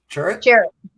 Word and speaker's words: Chirrut: Chirrut.